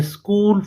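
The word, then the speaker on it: school: जो word स्कूल है इसमें एच जो है ये साइलेंट है। एच क्या है बेटा? साइलेंट। स्कूल में एच क्या है? साइलेंट। हम स्कूल पढ़ते हैं, ठीक है, एच नहीं पढ़ते।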